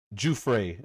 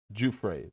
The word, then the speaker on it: Giuffre: Virginia Juay is how you're supposed to say her name. Juay.